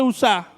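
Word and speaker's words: Uzá: Pero el error de Usa, para que no suene como Usa. Le voy a poner el acento en la A. El error de Usa no nació en ese momento.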